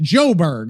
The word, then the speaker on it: Johannesburg: Joe rhymes with go. Okay. Johan Han Johannesburg. Johannesburg or something like Yoberg like Joberg. Johanisburg if Joberg if you wait locally they just call it Joberg.